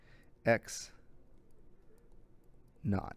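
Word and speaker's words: x₀: Okay, so this is pronounced x naught. You could say sub-zero or naught. It just means the value of x at zero, which would be right here.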